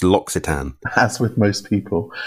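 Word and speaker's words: L'Occitane: So it's L’Occitan.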